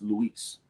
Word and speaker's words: Luis: it is it's it's in spanish it's technically it's luis you know what i'm saying but i don't know i'm it's just weird for me to sound like doing it i just say louis i don't know it's